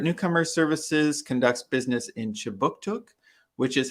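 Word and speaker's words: Kjipuktuk: But before we begin, I'd like to mention that Right Start Newcomer Services conducts business in Chibuktuk, which is how you say Halifax in the Mi'kmaq language.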